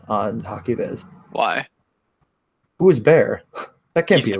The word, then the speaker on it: Bear: Ethan Bear.